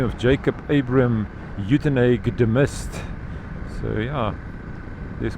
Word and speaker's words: Uitenhage: It was already established in 1804, and it is, well, Uitenhage, I'm not sure what the correct pronunciation is. In Afrikaans we say Uitenhage, in English of course Uitenhage, but the name comes